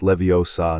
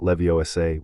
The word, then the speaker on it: Leviosa: It's Leviosa, not Leviosay, with a precision that was technically accurate and socially devastating.